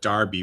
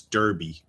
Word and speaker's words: Derby: that you call D you call it Derby when it's Derby. If there was if it was Darby, there would be an A there, right?